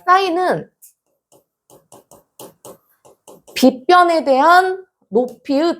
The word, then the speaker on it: 사인: 있는데 첫 번째 자, 사인 자, 이걸 이제 사인이라고 읽어요. 사인. 자, 그다음에 두 번째는 자, 코사인.